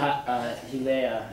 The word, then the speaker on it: Hialeah: Yeah, versus the city of Hialeah. No, it's Hialeah, city of Hialeah in Florida.